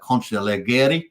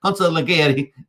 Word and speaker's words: consigliere: We've got Max Payne, the Capodicina, and, of course, yours truly, Superman, as the Consigliere, as we like to say. Consigliere. Hopefully, Cult v DeFi likes my pronunciations, because normally I say Consigliere.